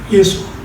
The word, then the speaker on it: 예수아: 마지막 이름, 세 가지 이름 중에 마지막 예수아라는 이름, 우리는 예수라고 하지만 본래 아람어 발음은 예수아예요. 예수아.